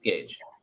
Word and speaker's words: gauge: the best way to is it gage i think it's gage right i learned to talk by reading so i pronounce things wrong um it's like engaged it's gage okay it's spelled funny i know that's the